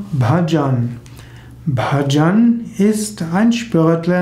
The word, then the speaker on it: Bhajan: Das Sanskrit-Wort Bhajana wird in den meisten nordindischen Sprachen und in den meisten Regionen Indiens Bhajan ausgesprochen, zum Beispiel auch im Hindi.